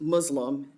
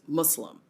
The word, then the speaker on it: Muslim: One thing I'd like to say is as we talk about education, um, it is not pronounced Muslim, it is Muslim. So there's no Z in it.